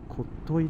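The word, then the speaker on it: 特牛: 書いてこっとい、こっといなんて読めない、あれ知らなきゃ。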